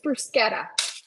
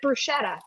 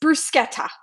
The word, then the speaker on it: bruschetta: all right who likes brusketta and who pronounces it bruschetta incorrectly it's brusketta let's get it right people good morning Kimmy D hey Connie hey Sherry hey jagy it's brusketa not brushetta and if somebody corrects